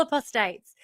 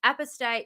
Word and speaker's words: apostate: it it's apostate it's apostate is the way most people pronounce it the Jehovah's Witnesses pronounce it apostate um with a long o so that's the way